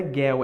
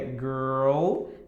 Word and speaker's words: girl: Se você quer pronunciar bem essas palavras, girl, não é girl, é girl, tá?